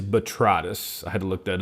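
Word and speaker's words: Botrytis: B O T R Y T I S. Betritus. And it is betritis.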